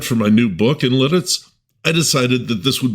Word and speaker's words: Lititz: You split that first T and connect it to the first syllable. Lits.